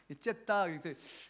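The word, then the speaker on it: جدة: 제다 그러잖아요 그 한 영어로는 g d d거든요 그 제다 그러는데 이거를 우리 아랍권에 있는 아라 그리 선생님들은 선교사님들은 이렇게 말하더라고 제다 그러더라고요 이게 아랍 말하면 됐다라고 해야 된다고요 째다이 그런데 그 됐다라는 발음이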